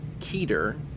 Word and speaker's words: Keter: The word Keter, as used by the SCP Foundation, I'm pronouncing it Keter because that's how I've always pronounced it, and that's how most English language speakers have begun to pronounce it, and therefore...